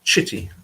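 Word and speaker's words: Citty: to say it but in Italian the single letter C as opposed to the double C is it's pronounced differently so the double letter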